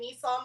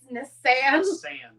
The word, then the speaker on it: Nissan: So now I feel like I've been calling Nissan wrong my whole life, and it's Nissan. Nissan is how they pronounce it, yeah.